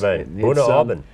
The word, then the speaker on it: Bunnahabhain: Bunnahabhain is how you pronounce not this. Bunnahabhain. It's one. That sounds Dutch, not Scottish. No, it's a Gaelic name, and I tried some